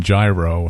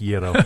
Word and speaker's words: gyro: I'm still trying to work on gyro, so... It's actually pronounced Yero, but we'll leave that alone for now.